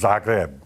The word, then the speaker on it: Zagreb: Yeah, that's how it's pronounced, Zagreb.